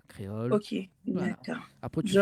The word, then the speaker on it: Kréol: Effectivement, voilà, comme ça s'écrit à Télécréole, donc K-R-E-O-L. Voilà, créole.